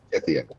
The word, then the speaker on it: Tithian: It's I can't pronounce his name. It's Tiffy. Tithian. Tithian.